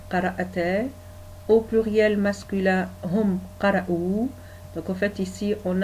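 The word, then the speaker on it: قرؤوا: Au pluriel masculin, hum qara'ou. Donc en fait ici on a ce qu'on appelle alif orthographique, donc en fait qui s'écrit et ne se prononce pas.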